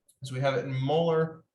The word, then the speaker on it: molar: So find the mass of copper 2 sulfate needed to make 250.0 milliliters of 0.7550 molar solution. So that capital M, we pronounce that molar.